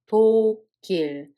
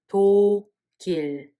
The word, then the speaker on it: 독일: 도길. Because this Batchim carries over to the following syllable. So this 그 sound Batchim is transferred to the second one. One more time, we read it as 도길.